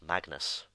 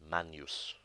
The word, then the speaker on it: magnus: word meaning great and it's commonly mispronounced Magnus but it's actually pronounced Manus the letter H is